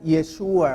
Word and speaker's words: Yeshua: Se pronuncia Yeshua, hermanos. No es Yeshua ni Yachua, no.